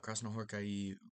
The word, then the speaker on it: Krasznahorkai: Um, and then the AI at the end of his name is um I I recently learned is is not a diff thong. Um, it's two separate syllables. It's not I, it's I. So, gonna try to pronounce that that way.